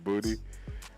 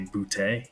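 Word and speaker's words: Boutte: Booty. I I like to say bouty. Bouty. I think it gives a little swag, but he apparently says that you pronounce it booty.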